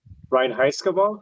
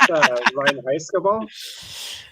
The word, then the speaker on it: Reinheitsgebot: So kind of what Brandon was saying about all the foreign words that are hard for Native American English speaker to pronounce, but Reinheitsgebot, I don't know if I'm saying that right, but the very impurity law.